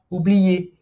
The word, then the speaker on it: oublier: Então, exemplos, como o verbo esquecer em francês, que é o verbo oublier, oublier. Olha aqui, a regra anterior, que a gente acabou de ver, o ER com som de E no final, e o